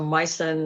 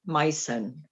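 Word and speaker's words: Meissen: discovered that it was a mycin figurine so mycen of course is a very um expensive brand especially the older pieces can you spell that yeah m i e s s e n mycen so is that german yes it's a german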